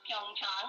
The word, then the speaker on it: Pyeongchang: It is pronounced Pyeongchang, and that's a county, a kind of rural area in Korea, about 130 kilometers from Seoul.